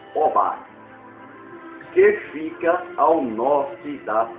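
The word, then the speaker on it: Hobá: Ele continuou a persegui-los até Robá. Robá. H-O-B-A. Ou pronunciamos Obá, que fica ao norte da cidade de Damasco.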